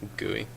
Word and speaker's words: Gui: no, but it's not spelled like this though. That's what makes it unique. THYS. Yeah. Yeah. This guy, and then it's like GUI. This guy. Gooey.